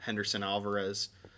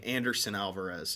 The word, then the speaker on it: Henderson: really they gave up henderson alvarez at the press conference the marlins pronounced his name anderson alvarez it just shows you